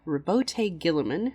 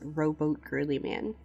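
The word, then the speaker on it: Roboute Guilliman: they are led by Rabote Gilliman, whose name is often mispronounced by the community. There's a whole list of them, but the number one mispronunciation that I see is Rowboat Girly Man.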